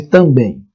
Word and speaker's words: também: Qual é a sílaba tônica de também? Bem. É a sílaba mais forte. Bem. Oxítona terminada em em.